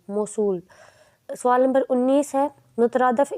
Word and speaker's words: موصول: کا درست تلفظ ہے۔ جواب ہے موصول، میم زبر و موس صاد پیش و سو لام، موصول۔ سوال نمبر 19 ہے،